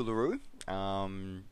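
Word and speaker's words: Uluru: history about that so um yeah the the pronounce it is called uh LaRue from the local indigenous dialects known to us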